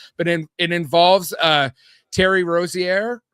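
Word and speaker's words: Rozier: scammed or not, but it involves uh Terry Rosierre. Rosair, is that how you pronounce it?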